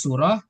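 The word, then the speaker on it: صورة: H lil eh hadhi lil muannas had lil mudzakar muzakar halan surah khalas surah mafhum kalimat surah suratun laisa surah laisa bisin ingat kalau bacanya bisin itu beda artinya surah artinya apa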